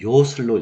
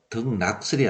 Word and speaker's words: 요설: 싶어서 하는 것이기 때문에 이거는 요설로 읽어야 되죠. 그래서 덕낙설이 아니라 덕요설입니다. 우리 또 이제 흔히 요산요수라 그러죠. 산을 좋아하고 물을 좋아할 때. 근데 이걸 어떤 이는 낙산낙수라고 읽는 분도 계시기도 합니다. 그래서 그런 것처럼 이것은 요자로 읽어야 됩니다.